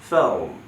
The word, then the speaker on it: film: উচ্চারণ প্র্যাকটিস করে, ফিল্ম, film, what kind of, অথবা বলতে what type of film do you, right?